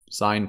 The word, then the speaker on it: sine: sine u-soids right and we usually talk about the sine function the sine function which is spelled like this sign but usually we abbreviate it to call it s-i-n sign function okay and the sine